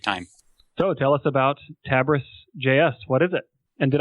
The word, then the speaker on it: Tabris.js: So tell us about Tabris.js.